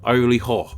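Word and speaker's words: Iry-Hor: known pharaoh of egypt which are considered to be pronounced early ha who would have ruled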